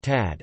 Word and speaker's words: Tchad: Chad, listen, Arabic, Shad to Shad, French, Chad pronounced Tad, officially the Republic of Chad, Arabic, Jamrit Shad Jumhuriyat Shad, French, République du Chad lit.